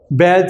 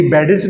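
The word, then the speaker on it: badge: अब इसकी सबसे मशहूर मिसाल बैज है, जो हम बच्चे हमारे लगाते हैं, बैज। इसको कोई भी बैडेज नहीं कहता, बैज, डीजी इकट्ठा आ गया तो डी साइलेंट है।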